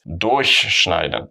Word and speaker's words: durchschneiden: How do you stress them? For example, here it's also ich durchquere den Tunnel, but here it's durchschneiden. Obviously, I exaggerated it a little bit, but if the stress is on the prefix, it's separable. If the stress is here, it's not separable.